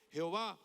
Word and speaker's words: Jehová: Yod, hey, bab hey o y hwh, que es el nombre propio personal de Dios, Jehová o Yahweé, que nosotros para poderlo pronunciar le ponemos las consonantes de la palabra